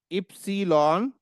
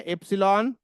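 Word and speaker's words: Ypsilon: इसका प्रोनाउंसिएशन इसको बोलते हैं इप्सलॉन। ठीक है? है एप्सलॉन एप्सलॉन एप्सलॉन and then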